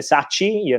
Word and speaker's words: Sacchi: they say, "You Lele Sacchi," because people believe that CH in most of the languages is a chi and not a K. But in Italian it's a K.